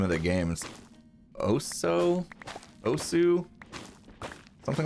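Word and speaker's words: osu!: good at it actually it's pronounced oh so okay so i was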